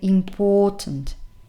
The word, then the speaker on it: important: to the fact that the stressed syllable is the second one that's why in the phonemic transcription you have the stress here that's why you say important important and with a long o sound here important important word